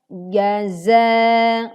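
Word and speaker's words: جَزَاءً: Perhatikan 2 huruf yang terkadang sering kita tertukar membacanya, yaitu huruf jim dan huruf zai. Di sini kita baca jaza, berbeda ya.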